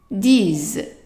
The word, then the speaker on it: disent: Ils, as silent, disent.